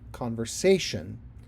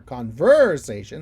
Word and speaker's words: conversation: For example, the word conversation. I don't say conversation or conversation. I say conversation. I have the syllable stress on the sation, on the say of sation. Conversation.